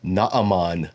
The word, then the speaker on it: Naaman: pedantic to say uh Pastor it's Naaman the Syrian I can't even listen to the rest of your sermon because you're saying non the Syrian this is just part